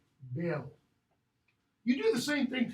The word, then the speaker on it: Beowulf: Notice that. Beo. You say both, but it's one syllable. Beo. Beo.